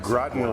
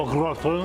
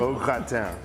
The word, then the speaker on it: au gratin: Gratin rhymes with rotten, and I've always hated the way that's pronounced. So it's in French, it's potatoes au gratin. So just so you know, it sounds so much better that way.